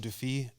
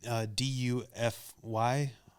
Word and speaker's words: Dufy: I've always called him Duffy, but I don't know, since I'm speaking to a European, what the right thing to say is in this moment. Because I would say it like an American says it, but I'm really embarrassed about doing that. But it's Dufy, Raoul Duffy, or Duffy. Defoe. Duffy. I don't know. He's French.